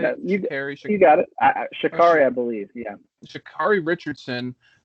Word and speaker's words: Sha'Carri: culturally relevant, is I'm gonna butcher her name, Sha'Carri. Is that how you say it? You got it. Sha'Carri, I believe.